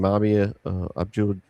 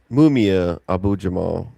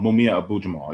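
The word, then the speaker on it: Mumia Abu-Jamal: then from the library, I got I can't pronounce his name, Mabia Abdul how do you say the black? He was next Black Panther. Live from Death Row. Oh, I'm re- Matulu Shakur. um, Mumia Abu Jamal.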